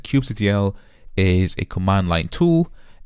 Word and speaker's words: kubectl: this command line application called Kubectl or Kubectl, as many people pronounce. And basically what Kubectl or Kubectl, which I'm going to refer as in this course, I prefer Kubectl.